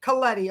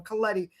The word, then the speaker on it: Colletti: Am I pronouncing your last name right by the way? Colletti, okay. I knew I was doing something wrong. Colletti.